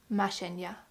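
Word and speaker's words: Mashenka: I hope I pronounced this correctly, but the author himself wrote a little section in front of the book how you pronounce it, and I think it is pronounced Mashenya, which is like a version of Maria, I think, which is nice because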